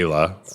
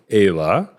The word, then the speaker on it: Aylah: We just say Ayla with, American accent or whatever.